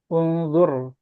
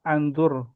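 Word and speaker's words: انظر: Kalau ketemu dengan fi'il amr ya tengah-tengahnya itu U dibacanya U. Unzur. Unzur gitu kan. Bukan, bukan indur atau anzur, tapi undur.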